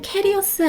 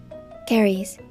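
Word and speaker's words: caries: 문장에서 충치를 cav베리라고 했는데 저희가 알고 있는 충치는 캐리어스 아니었나요? 궁금하실 수 있습니다. 캐리어스는 캐리스의 영어를 한국식 발음으로 편하게 읽다가 바뀐 듯한데 사실은 car리 캐리스로 읽는 것이 맞습니다. cares cares 캐리스는 치아 우식증 즉 의학 용어로서의 충치를 말해요.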